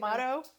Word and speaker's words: motto: Motto? How do you say it? Motto. Motto? Now you got me messed up. Motto. Motto. See, it doesn't sound like it's spelled.